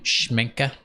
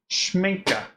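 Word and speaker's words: Schmincke: Schminka. Schminka. Awesome. Is that a German brand? I think so. All righty. Like the A in your name.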